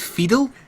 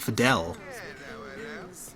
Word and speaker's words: Fedel: will meet with fedel she pronounced it fedel I would have said Fidel like Castro but anyway so there is